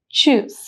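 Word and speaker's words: Tschüss: Again the one thing to mark here is the u loud which is the sound of uh so the pronunciation is choose.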